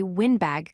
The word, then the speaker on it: windbag: Word 12 is windbag, meaning a talkative person. Pronounce the wind part with a short I sound like in win, not like the wind that blows. Say windbag clearly.